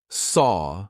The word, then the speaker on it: saw: So, actually saw feels like it should rhyme with door, right? It's the same sound saw.